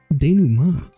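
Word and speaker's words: dénouement: quick there it is can I hear it danu Ma danu Ma that was not a pronunciation I was expecting I have actually heard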